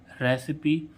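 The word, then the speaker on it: recipe: आई एन ए Eli finale ऐसे ही इसमें रेसिपी आर ई सी आई पी ई रेसिपी अब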